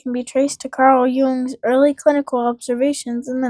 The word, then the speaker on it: Jung: Originally formulated by the Swiss psychiatrist Carl Gustav Jung, or Jung. It's Jung. Pretty sure that's how it's pronounced.